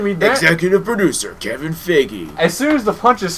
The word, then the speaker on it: Feige: Executive producer Kevin Feige.